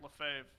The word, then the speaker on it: Lefebvre: I don't know how to pronounce his last name. I'm just going to go for it. Lefebvre? Yeah, that's right. Lefebvre.